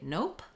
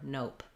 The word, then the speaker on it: nope: english is to say nope which is more casual and it's basically um the o sound with a p at the end no or nope nope nope rhymes with words like rope or soap so we could rewrite